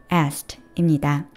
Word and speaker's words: asked: 이 단어를 정석대로 발음하면 asked. 그런데 이건 힘들잖아요. 그래서 더 흔하게 하는 발음이 바로 중간에 k를 빼고 발음하는 asked입니다.